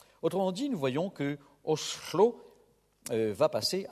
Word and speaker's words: Oslo: Ainsi, en norvégien du Sud-Est, la sifflante S passe à la chuintante che dans le nom de la capitale de ce pays, autrefois Christiania, maintenant Oslo. On prononce donc Oslo.